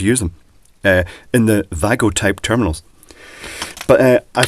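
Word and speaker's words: WAGO: uh many people say WGO because it doesn't translate too well the VA the W being pronounced V uh in other languages.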